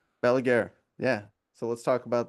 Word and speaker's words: Balaguer: Balaguer. Balaguer.